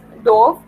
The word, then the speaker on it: dove: So this is pronounced as dove. Drove and dove are similar rhyming words, and these words are used in inside of the sentence or of this verse.